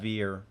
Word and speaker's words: weer: The W's go pronounced like V's. It's Germanic. Oh, V. So instead of V, weir, what? it's veer.